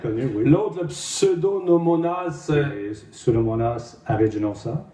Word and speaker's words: Pseudomonas aeruginosa: Pseudomonas aeruginosa. C'est comme ça qu'il faut le prononcer.